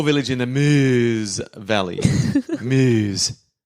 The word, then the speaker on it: Meuse: Meuse. I'm not even trying to pronounce that wrong. I reckon that's exactly how you pronounce it.